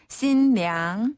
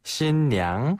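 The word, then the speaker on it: 新娘: 번 더 신랑 신랑 그다음 신부는 신량 신량 한 번 더 신량 어 신량 진짜 쉽죠 어 신랑은 무슨무슨 군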